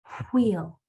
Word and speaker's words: wheel: When you see a WH, it should be pronounced with no voice, only a blowing sound. WH should be pronounced as wheel, as so the word